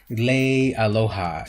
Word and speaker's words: Leialoha: I always say his name wrong. Leialoha.